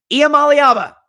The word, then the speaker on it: Iamaleava: They're going to come in looking like $1 million, and Nico Iamaleava, I'm going to say it right, Iamaleava is going to light the world on fire.